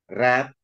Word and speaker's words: read: tahu tata bahasa ini bacanya bukan read tapi karena tulisannya sama read red red nah ini tulisannya sama Tapi bacanya berbeda loh kok ngerti bacanya berbeda Kok saya baca red karena di sini was